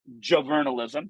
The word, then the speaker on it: JoVRnalism: students and I we produce under the name Joe vernalism that's how you pronounce italism we have the trademark for it